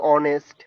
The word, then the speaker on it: honest: It's to be honest. I'm right. Yes, it's honest. And at that time he was like honest. Okay. So H is silent there, right?